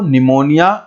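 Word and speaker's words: pneumonia: निमोनिया की spelling P से शुरू होती है, पी साइलेंट होता है, तो प्लूरो निमोनिया लाइक ऑर्गेनिज्म, यानी प्लूरो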